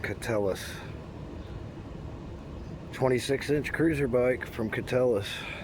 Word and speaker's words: Keteles: It's pronounced Catellus.